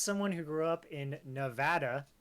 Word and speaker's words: Nevada: grew up in Nevada it is Nevada it is not Nevada that is the improper way to say that I don't care who you are where you are that's not how you say it so that's just a